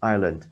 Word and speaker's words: Ireland: Đọc nhấn vào đầu tiên Ireland.